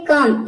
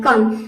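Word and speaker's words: come: देखिए कुछ वर्ड्स है कम इसमें ओ का उच्चारण अ आ रहा है कम और रूल के अकॉर्डिंग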